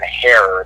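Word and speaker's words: Herer: And we'd like to get his son Mark and or Dan Herrer, that's H-E-R-E-R, like rhymes with terror.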